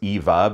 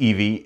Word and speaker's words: Evie: I think in the last video I said her name was Eva because I had just named her like minutes before that and just mispronounced it. But her name is Evie, and the other one,